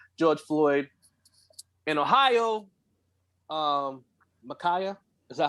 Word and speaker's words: Ma'Khia: sharp and killing george floyd in ohio um makaya is that how you say her name makaya yes sir rakay bryant was killed in an